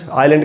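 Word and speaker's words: aisle: ये है island, island का मतलब होता है द्वीप या टापू। आइल, इसको भी आइल पढ़ेंगे, इसमें भी एस साइलेंट होता है।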